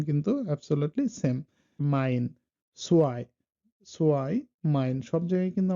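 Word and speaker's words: zwei: এম এবং এন এর উচ্চারণ কিন্তু অ্যাবসোলিউটলি সেম। মাইন, সোয়াই, সোয়াই, মাইন সব জায়গায় কিন্তু আমার আইটা চলে আসতেছে।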